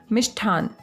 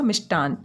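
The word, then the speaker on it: मिष्टान्न: एक और शब्द है मिष्ठान। हम मिष्ठान ही बोलते हैं स्थानीय भाषा में और उसी तरीके से हम इसे लिख देते हैं, लेकिन इसका शुद्ध उच्चारण होगा मिष्टान। मिष्टान होगा और मिष्टान ही लिखा जाएगा।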